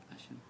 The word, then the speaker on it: Hashem: ça sécrit et chin même comment ça se prononce etin même quelqu'un y sait hasem Hashem c'est t tous les gens ont dit Hashem